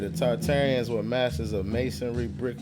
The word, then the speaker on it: Tartaria: Tartaria originally pronounced Tataria without the first R. So originally it's Tataria and they then later added the R to make it Tartaria.